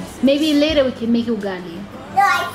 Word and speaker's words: ugali: He means Kali means ugali. He doesn't know how to pronounce ugali.